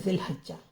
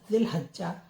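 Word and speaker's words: ذو الحجة: जा फिर हा ह हिज इसमें हि आया है तो इसमें छोटी की साउंड है लजा लजा भी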